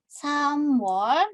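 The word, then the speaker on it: 삼월: Maret, samwol, ditulisnya pakai angka ya, kalau di keseharian gitu ya, hanya dibacanya saja yang menggunakan angka Sino gitu ya.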